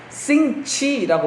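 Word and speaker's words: 星期: 월요일은 중국어로 성기일, 이건 우리 발음으로 그렇고 성기일, 성기2, 성기3, 성기4, 성기5, 성기6, 그 다음에 성기천인데 발음은 중국 발음을 찾아보니까 싱치라고 말합니다.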